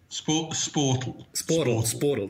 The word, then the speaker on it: Sportal: Or how do you pronounce it properly? Sportal.